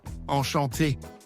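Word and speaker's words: enchantée: If you are a woman, you say, enchanté, with an extra E at the end. But don't worry, the pronunciation sounds almost the same.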